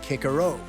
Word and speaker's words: Cicero: Cicero pronounced kickaro.